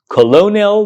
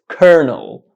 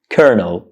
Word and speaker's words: colonel: the same way as it's spelled I know it's spelled Colonial but the correct pronunciation is Kernel kernel kernel kernel kernel so do not pronounce this word colonial incorrectly the correct pronunciation of this word is Colonel konel but what does it mean konel is a